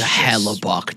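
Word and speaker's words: Hellebuyck: More so the US was Hella Buck, dude. What a G. Is that how you pronounce his name?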